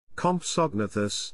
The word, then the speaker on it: Compsognathus: compsognathus pronounced comp sog na thus was a dinosaur that